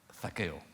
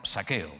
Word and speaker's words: Zaqueo: Uno, Zaqueo. Zaqueo, y si lo pronunciara en latinoamericano, saqueo, ¿no?